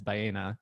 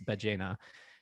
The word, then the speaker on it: Ballena: I just started Spanish lessons today, and I realized I've been pronouncing Ballena incorrectly as Ballena, and it's Ballena.